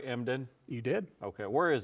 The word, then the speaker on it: Emden: Did I say it right, Emden?